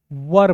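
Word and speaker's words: were: वज बोलिए ठीक और इसको क्या बोलिए वर बोलिए वर वर वर ध वाला वर नहीं वर बोला जाता है ठीक है वर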